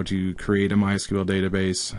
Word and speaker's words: MySQL: and in this series we're going to use MySQL sometimes pronounced MySQL and MySQL is pretty much the most popular